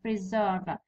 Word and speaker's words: preserve: Preserve. Verb هذا. Preserve. هذا فعل ديما الستريس يجي في الجزء الثاني بتاعه. في syllable الثاني. Preserve.